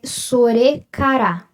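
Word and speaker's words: それから: Aqui se lê sorekara, tá? O S sempre vai fazer um som suave, O R sempre vai fazer esse som de ire, ele nunca vai fazer,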